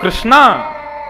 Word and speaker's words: कृष्ण: इसीलिए कृष्ण शब्द का जो लोग कृष्णा उच्चारण करते हैं वे सावधान रहें, क्योंकि यदि मुक्ति मिलेगी तो वैकुंठ में द्रौपदी आपका स्वागत करेंगी। आइए, आपने मेरा खूब भजन किया। आप कहोगे द्रौपदी जी हमने आपका नहीं, हमने तो भगवान का किया था। बोले नहीं, आप हरे कृष्णा बोलते थे ना, कृष्णा तो मेरा नाम है, भगवान का नाम कृष्ण है।